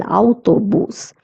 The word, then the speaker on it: autobús: So there's an accent on the U, so we're going to stress on the U. El autobús. El jardín, garden.